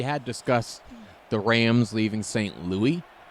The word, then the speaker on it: St. Louis: curiosity, because we had discussed the Rams leaving St. Louis. Yes. Is it Louis or Lewis? It's officially St. Louis, but sometimes people will call it St. Louie.